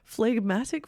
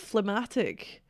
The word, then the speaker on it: phlegmatic: Why did I say it like that? Phlegmatic, not phlegmatic.